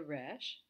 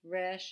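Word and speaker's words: רֵישׁ: The true Israeli Resh is in the back of the throat, maybe like the French reh in the back.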